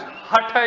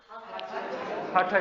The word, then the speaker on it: hatha: America okay it is hutter is actually like hut h UT but with the edge okay so not half a yoga okay so hot so we'll say it properly so let's say three times hata yoga hut like h UT hata yoga that's also fine that last hey you don't have to hot yoga hatha yoga yeah hurt you because